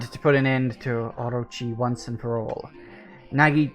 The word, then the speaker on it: Orochi: I didn't even know it was pronounced Orochi until a friend corrected me on it. I always thought it was Orokai.